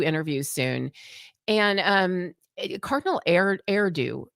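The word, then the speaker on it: Erdő: And um Cardinal Erdo, it it is it rhymes with hairdo.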